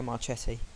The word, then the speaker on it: Marchetti: In goal we have Federico Marchetti. I think that's how you say his name. Let me just check here. And yeah, it's Federico Marchetti.